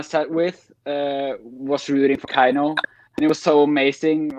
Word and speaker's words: KEiiNO: How does a Norwegian prefer to have it pronounced? A Norwegian says it like KEiiNO. Hmm. Like with an A.